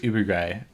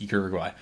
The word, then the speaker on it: Uruguay: Jealous and Uruguay, how they say it Uruguay, but it's Uruguay.